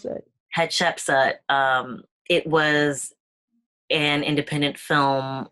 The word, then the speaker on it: Hatshepsut: How do you pronounce that? Hatshepsut.